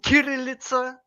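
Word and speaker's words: Кириллица: with hard K. It coming from Kirillitsa, and this is the correct pronunciation, Oh, okay.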